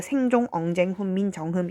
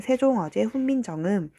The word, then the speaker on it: 세종어제훈민정음: 그러니까 발음을 할 때 생종, 엉쟁, 훈민, 정음 이렇게 발음을 하는 게 아니라, 발음을 할 때는 세종, 어제, 훈민, 정음 이렇게 발음을 하고, 쓸 때는 가짜 이응을 넣어서 이렇게 표기한다는 거죠.